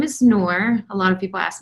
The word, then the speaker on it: Nour: asked me to join so my name is nour a lot of people ask me how do